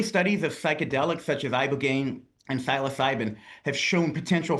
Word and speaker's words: ibogaine: Specifically, they were touting this one drug, ibogaine, I believe.